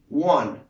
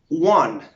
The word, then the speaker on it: one: tenemos el número 1 en inglés se dice wang la pronunciación correcta es one como si fuera una